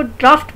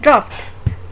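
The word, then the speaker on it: draught: अगर नीचे वाले लफ्ज़ देखें तो हम इसको ड्राफ्ट बोलते हैं, चाहिए GH के साथ है लेकिन हम इसको बोलते हैं ड्राफ्ट।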